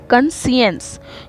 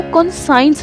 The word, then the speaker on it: conscience: कंसियंस, कुछ लोग इसको कंसाइंस भी पढ़ते हैं, तो गलत नहीं है, बस आपको स्पेलिंग अगर आप पेपर में दे रहे हैं तो याद रखना होगा, बट सही प्रोनाउंसिएशन है कंसियंस।